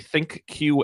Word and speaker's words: ThinQ: I have regular fridge money, but I do get to use everyone's favorite, the ThinkQ app, pronounced Think, for my friends at LG.